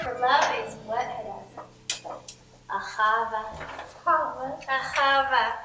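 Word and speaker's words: אהבה: Ahava. Ahava. How do you spell that, Hadassah?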